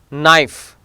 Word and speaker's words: knife: Now letter K, letter K is always silent when it comes before an N and at the beginning of a word. No, is not a kno. Knife, knee, knowledge, knock, not.